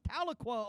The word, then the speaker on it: Tahlequah: Tahlequah, Oklahoma.